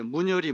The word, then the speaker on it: 문열이: 순 우리말로 문열이 문열이 이거를 이제 조금 발음을 시게 문열이 문열이 그렇게 이야기를 하죠 돼지가 새끼를